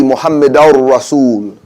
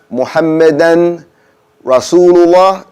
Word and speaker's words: Muhammadar Rasul: Saying Muhammadan. It should be Muhammadar Rasul. Okay? So if you say Ashhadu anna Muhammadan Rasulullah, that's wrong.